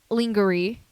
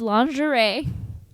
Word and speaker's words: lingerie: sure why they had to be dressed in linger II uh angry yes Chiara would say honey it is lingerie I'm not sure who told you that the way lingeries spelled is pronounced lingering but that's fine it's